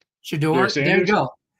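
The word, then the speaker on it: Shedeur: Shador.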